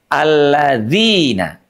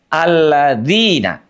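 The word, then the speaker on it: الذين: Makanya pastikan sekali lagi ujung lidah kita nempel ke gusi eh maaf ke gigi seri atas ya. Alladzina. Alladzina. Tidak ada napas yang mengalir. Tidak. Alladzina.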